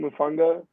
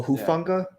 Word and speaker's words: Hufanga: I believe that's how you say his name, Mufunga. The safety, he just got All-Pro. Oh, Hufanga?